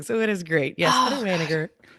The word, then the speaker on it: Wanniger: My ex would always say, "Say it like you're mad." Wayer. Wigger. So, that's how that's how you say it. Get a little angry with it.